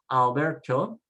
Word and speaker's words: Alberto: So let's look at the very first one, Alberto. It ends with a vowel, so the stress is next to the last, and we simply say Alberto, Alberto.